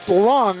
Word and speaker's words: Leung: Well, I started out with that, and I was thinking back to my good friend Tom, Leung, from college, who pronounced it Long, and so I just wanted to make sure there.